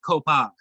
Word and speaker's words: Coupe: Pronounced Copa.